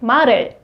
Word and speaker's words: 말을: So when you pronounce 말, you have to move the last sound of 말, sound to the iung. So it's like 말을. Not 말, it's for better pronunciation.